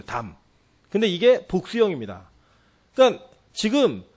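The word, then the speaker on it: דם: 아우의 핏소리라고 할 때 히브리어로 이 핏소리라는 발음이 담이에요. 담.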